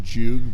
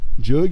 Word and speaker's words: Joog: it should be pronounced Jug, but it's not a real word. Yeah. It's like a jug of water, but the U is emphasized, like, jugs.